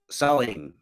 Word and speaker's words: Samhain: So here you have Halloween's origins date back to the ancient Celtic festival of Samhain, pronounced Samhain.